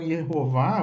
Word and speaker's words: Yehová: Mas aí a pessoa fica pensando, mas por que então Yehová você está considerando como correto? Vamos falar sobre isso agora. Ierro forma a primeira sílaba e Vá a segunda sílaba.